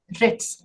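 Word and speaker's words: writs: में रिट्स कहते हैं रिट्स डब्लू इ साइलेंट रिट्स ये रिट्स सिर्फ पांच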